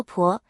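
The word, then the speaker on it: 番: 凡在姓氏中读作婆，源自殷商七族之一的有婆氏。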